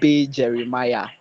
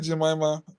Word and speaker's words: Jeremiah: Jones when you're pronouncing my name you you made a horrible pronunciation. It is um bro Jeremiah. Yeah. Bro, Jeremiah, thank you very much. Did I call you Jamaima?